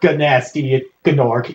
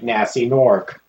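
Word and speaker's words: Gnasty Gnork: It's not Ganasty Gnork. Yeah, you don't pronounce the G. It's just simply Nasty Gnork.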